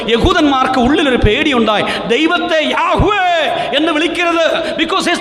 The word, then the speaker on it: യാഹുവേ: എടുക്കരുത് എന്ന് പറഞ്ഞതുകൊണ്ട് യഹൂദന്മാർക്ക് ഉള്ളിൽ ഒരു പേടിയുണ്ടായി ദൈവത്തെ യാഹുവേ എന്ന് വിളിക്കരുത് name is the one who is ഉള്ളവൻ ഉണ്ടാക്കുന്നവൻ നിയന്ത്രിക്കുന്നവൻ ഇപ്പോഴുള്ളവൻ സർവ്വശക്തൻ ആ പേര് എടുക്കരുത് അതുകൊണ്ട് അവർ എന്ത് ചെയ്യാമോ യാഹുവേ എന്നുള്ള വാക്ക് തെറ്റിച്ച് യഹോവ അഡോണായ് എന്ന് പറയുന്ന ലോർഡ്